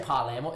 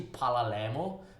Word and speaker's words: Palermo: the sort of thing i know i say parliament it's actually pala lamo but uh look i've